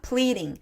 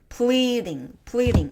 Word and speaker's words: pleading: pleading. 앞쪽에 강세가 있어요. pleading.